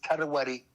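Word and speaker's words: Traoré: You know, Ibrahim, the name is not Traore, it's Tarawari. That is the real pronunciation. When you come down to local Burkina Faso, it's Tarawari. But the white people make it Traore, and we are also mentioning it that way.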